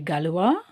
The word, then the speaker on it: gallois: Tu es gallois? Tu es galloise? So in the first one, we don't pronounce the S. In the second one, we are pronouncing the S.